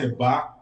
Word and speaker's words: Eba: It is actually pronounced Eba, which is an Ilaje language, translating to near.